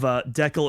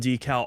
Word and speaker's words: decal: So I am on the Cambridge dictionary right now, and it looks like both pronunciations of decal and decal are correct.